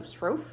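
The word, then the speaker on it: Sroufe: And the main author of the cookbook, Del, he said one time that his last name is pronounced like loaf. So Srofe. So there you go. Del Srofe.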